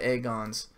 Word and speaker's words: Aegon: there's a lot of egg ons his name is Aegon yeah man ass hello good night Matt fam good night she said a god but pronounced to egg on basically he's egg on for